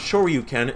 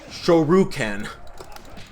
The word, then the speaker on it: Shoryuken: said right it's because it's not sure you can it's shoru ken and ken here says